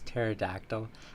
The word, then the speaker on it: pterodactyl: with that mother vers pterodactyl I like that you use the p as a word that has a silent P could you Ace Ace